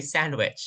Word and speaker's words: sandwich: get a sandwich please these English speakers they would spell it but they won't read it you say sandwich chicken sandwich all right